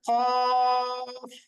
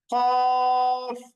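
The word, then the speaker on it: قاف: তখন সেটার নাম হচ্ছে কফ কফ টেনে উচ্চারণ করব আচ্ছা এরপরের হরফটার নাম হচ্ছে কাফ খেয়াল করেন আগে যে হরফটা আমরা পড়লাম এই যে এই হরফটা এটার নাম হচ্ছে কফ একটু মুখ গোল করে আর পরে যেটা পড়ছি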